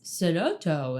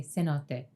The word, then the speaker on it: cenote: I tend to say things with the Spanish pronunciation because my mother's side is Cuban. She says cenotto and then cenote in her talking head. So, I'm just gonna say cenote.